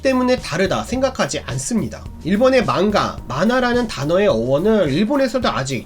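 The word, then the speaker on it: 漫画: 한국에서는 망가라고 하면 성인용 만화라는 이미지가 강하다고 하더라고요. 만화라는 한자를 일본 발음으로 망가라고 발음하는 것 뿐이기 때문에 여러분은 오해 없으셨으면 좋겠습니다.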